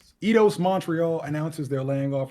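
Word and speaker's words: Eidos: Um, I don't I never knew how to pronounce this. Is it Idos or Idos? I do OS. Idos Montreal announces they're laying off 124 employees.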